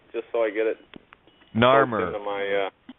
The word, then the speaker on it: Narmer: how do you pronounce that again, just so I get it? Narmer. Narmer.